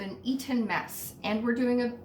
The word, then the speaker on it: Eton: According to Google, an Eton Mess, and I say Eton like I'm the person who pronounces that other T in Toronto.